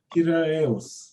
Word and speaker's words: Piraeus: It's Piraeus.